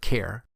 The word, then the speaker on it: char: collection of useful methods the char data type and again some people might pronounce it care is a primitive type